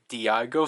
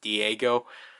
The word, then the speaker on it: Diago: go for it and i think it's supposed to be a diago speedy not d not i keep pronouncing as diego was diago but whatever um yeah so